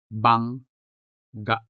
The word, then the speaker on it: bangga: Also, the word bangga has two syllables, bang and ga. Clearly, the first G belongs in this syllable, whereas the second G belongs in the second syllable. And as a result, they are sounded differently. Bang, ga, bangga.